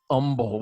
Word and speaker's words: Humble: It's humble, even though it's spelled humble.